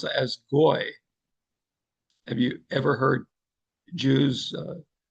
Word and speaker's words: goy: uses the term for nation that we would pronounce as goy.